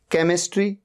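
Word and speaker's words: chemistry: है आफ्टर सी सी के बाद एच आ रहा है केमिस्ट्री केमिस्ट्री सब्जेक्ट होता है एच का यहां पर साउंड ही नहीं है टेक्नोलॉजी टेक्नॉलॉजी एच यहां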